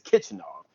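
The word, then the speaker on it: Khachanov: Uh, Kichinov, I think is how you pronounce it. Kichinov, Yeah, because it's kind of Kitchenov. like Yeah, Karen Kachanov, but it's Kichinov.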